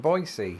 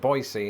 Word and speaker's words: Boise: at the airport in boisey also if you're wondering why I'm pronouncing it boisey instead of Boise that's how the locals told me to say it so if they lied